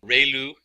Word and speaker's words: ReLU: function, we have the ReLU, it's pronounced like ray, the ray from the sun, and lu, like a name, so ReLU function.